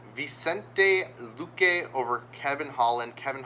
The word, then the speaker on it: Vicente: We're taking Joshua Van Vincent. No, not V. There's no N. Vicente Luke over Kevin Holland.